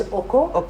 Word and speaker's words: Oko: It's called the right pronunciation is Oko.